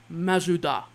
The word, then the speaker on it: Mazda: And how do you think the Japanese people pronounce Mazda? They don't pronounce it Mazda, Geekdom. They pronounce it Mazuda.